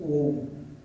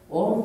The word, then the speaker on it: Om: reality in Sanskrit language om consists of three syllabes a u and Ma so a is pronounced with open m mouth open and my is pronounced with mouth closed and O is pronounced with mouth half open or half closed now all human sound